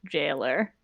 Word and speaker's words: gaoler: Guys, it's pronounced jailer. With a G? Gaoler. It's like when people try to say GIF. Jailer. I want Gower better.